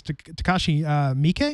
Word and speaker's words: Takashi Miike: I'm sure I'm mispronouncing this. Takashi Miike.